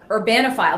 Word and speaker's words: Urbanophile: senior fellow at the Manhattan Institute for Policy Research with your website Urbanophile. Did I pronounce that correctly?